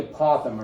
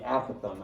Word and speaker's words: apothem: And by the way, it can be pronounced either way. I looked it up just to make sure because I didn't know how to pronounce it. So apothem or apothem is how you can say this.